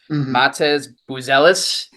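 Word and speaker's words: Matas Buzelis: Matez Buzelis from the Chicagoland kid. Buzelis.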